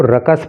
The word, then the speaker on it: ruckus: Opposition का मतलब होता है विपक्ष और रकस, इसके प्रोनाउंसिएशन पे आप ध्यान देना, इस वर्ड को रकस पढ़ते हैं, ठीक है।